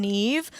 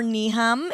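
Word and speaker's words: Niamh: eyes, as well as my mom, Neve, or Niham, if you pronounce it phonetically. As we frequently, I always know when somebody doesn't know us, when they're like, hi, is Niam there? I'm like, nope, there's no Niam here, just a Neve.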